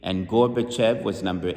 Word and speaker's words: Gorbachev: Gorbachev, that's how you say it, with the Tzadik.